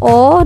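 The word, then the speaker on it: を: Partikel o ditulis huruf wo, bukan o. Partikel e ditulis he, bukan e. Contoh, mizuo nomimasu. Mizuo nomimasu ditulisnya dengan huruf wo ya, bukan dengan huruf o biasa yang huruf vokal.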